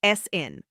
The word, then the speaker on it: aescin: The active compound is aescin, pronounced "essin".